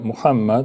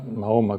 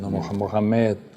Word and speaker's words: Muhammad: la venida del profeta muhammad maoma conocido como maoma una deformación moma de mohammad en inglés y en francés Es más cerca la pronunciación Mohamed es más cercano a muhammad que lo que los